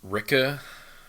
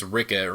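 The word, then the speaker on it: Rikke: will be quite another I pronounced ricca wrong the entire road yeah almost entirely until like at the oh yeah well and then she says to like the king it's like oh it's Rickett my rhymes with pricker it's like Jesus Christ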